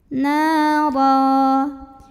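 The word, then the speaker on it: نارا: Cara bacanya ditebalkan, pangkal lidah dinaikkan. Nara. Kemudian apabila berhenti di sini, ro-nya ini adalah mad iwad karena ada baris tanwin fathah yang diwaqafkan. Maka cara bacanya baris tanwin fathah ini jadi 1 jadi fathah dan dipanjangkan 2 harokat.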